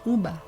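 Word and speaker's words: uva: sort of late latin what we now write is the v in modern latin text was pronounced as a b so u v a would have been pronounced uber and so this is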